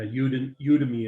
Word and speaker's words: Udemy: So yeah, Udemy it's pronounced.